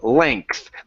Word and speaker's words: length: And then now pronounce the th at the end.